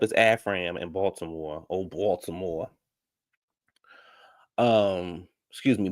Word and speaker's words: Baltimore: Oh, Baltimore. Excuse me, Baltimore, because the T is silent.